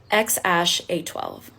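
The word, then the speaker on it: X Æ A-12: his name really made headlines and it is pronounced X Ash a12 and we know about little X for short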